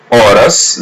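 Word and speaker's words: horas: Just listen and repeat or repeat part after part or in the word orus letter H is silent so we don't pronounce it orus is a feminine blur word.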